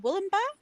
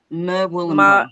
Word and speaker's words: Murwillumbah: I forget how to spell it. Yeah, that one. MUR Well, WILLUMBAH. Well done. Is it Wollumba? Murwillumbah.